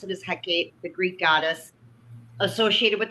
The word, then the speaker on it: Hecate: I pronounce it as Hecate, the Greek goddess associated with the crossroads, magic, the knight.